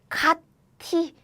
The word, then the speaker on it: 같이: Theoretically, you will probably pronounce like this. 같이, 같이. But you know, long time ago, we didn't really have like T sound. So this becomes 치, as in 같이.